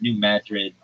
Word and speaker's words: New Madrid: like uh well it's New Madrid uh Missouri. And if you're like, why are you calling it Madrid and not Madrid? It's not pronounced like Madrid, like in Spain.